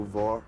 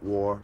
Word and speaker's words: Vor: Radio Vor, not war, but Vor, or war, but spelled with an O, not an A.